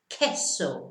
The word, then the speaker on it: queso: But in Spanish, it's like a K sound. So it's not queso, no, queso, queso, which means cheese.